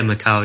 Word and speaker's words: Macau: bit of a fascination with quarters yeah the Macau border was very interesting or am I pronouncing that right yeah Macau yeah yeah yeah I really enjoyed that video